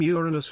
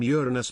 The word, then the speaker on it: Uranus: pronunciation of the name Uranus preferred among astronomers is/ jrns NS with the long u of English and stress on the first syllable as in Latin Uranus in contrast to slj